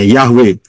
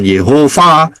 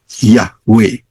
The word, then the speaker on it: Yahweh: Bacanya dari kanan. Yod, He, Waw, He. Jadi bacanya Yahweh. Bukan Yehova, ya, bukan Yahuwah, bukan apa, bukan Yahova atau apapun, bukan. Salah semua itu. Yang betul adalah Yahweh.